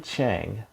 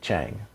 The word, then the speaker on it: Chenge: get into the show michigan gop kennedy austin chang is how you pronounce the last name chang he posted this on twitter because oh actually